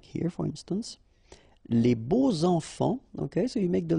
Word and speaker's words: beaux enfants: And here it's quite interesting because even if you've got this X, well, phonetically it will be like Z.